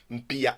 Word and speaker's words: Mpia: s'écrit Mpia.